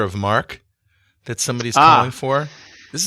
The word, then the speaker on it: marque: for what's called a letter of mark or a letter of marquee yeah marquee but it's spelled m-a-r-q-u-e right right um so